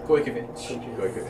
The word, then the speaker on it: Gojkovic: Gojkovic. Like Goy. Goy. We sang it now. G-O-J. Goy. That's Goy. Go.